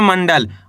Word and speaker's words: मंडल: मंडल। आपको करने के मक ऊपर अनुस्वार की मात्रा है। यानी कि अंग की मात्रा। आपको आधा न का उच्चारण तेजी के साथ निकालना है।